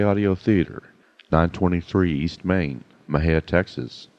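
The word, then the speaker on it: Mexia: theater 923 East Main Mejia Texas Mahia is spelled m-e-x-i-a our ZIP code is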